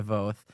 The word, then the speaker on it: Voth: And, so sorry about getting your last name wrong before. It is Voth.